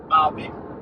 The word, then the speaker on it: Babe: So, it's spelled like babe, b-a-b-e, babe, but Babe.